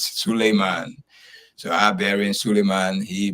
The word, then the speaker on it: Suleiman: Solomon, which is the Bible in Hebrew language, is Solomon. In Arabic language, is Suleiman.